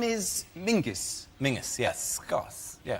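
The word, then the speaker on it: Menzies: His name is Mingus. Mingus. Yes. Gos. Yeah. Ming. Yeah. But it's pronounced it's it's spelled M E N Z I S.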